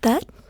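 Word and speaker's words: Tết: It's actually pronounced Tet. It's spelled T-E-T.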